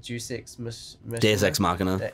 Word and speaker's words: Deus Ex Machina: Deus Ex Machina. That's how it's pronounced.